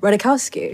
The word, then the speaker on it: Ratajkowski: my last name either radikowski you just learned that what are you talking about what checked it it's phonetic before we started and i was like you know we wrote j is silent you're deflecting because you